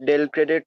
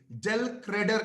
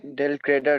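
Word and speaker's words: del credere: ना क्रेडिट sale without डेल क्रेडिट commission ल क्रेडिट नहीं पहले प्रोनाउंस ठीक कीजिए डेल क्रेडर कमीशन बोलिए डेल क्रेडर कमीशन यस तो सर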